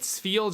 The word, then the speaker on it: Spheal: seal Pokemon specifically but spheal just takes it to a new level his name is hard to pronounce steel it's like an F feel as opposed to just